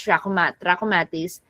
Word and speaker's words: trachomatis: Okay, chlamydia is, that's how you pronounce trachomatis.